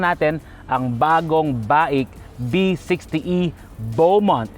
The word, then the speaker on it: Beaumont: At ngayon titingnan natin ang bagong baik B60 Bowont. Hindi po Buumont ha. Bowont po ang pronunciation niya.